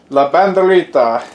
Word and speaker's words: La Banderita: La Banderita, it's just the Spanish way to pronounce it.